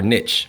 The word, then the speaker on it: niche: So there goes 14.1, habitat and niche, or niche. Pronounced either way, niche, I like to say.